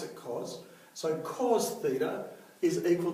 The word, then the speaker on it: cos: and we write cause this time we actually pronounce it cause so cos theta is equal to adjacent over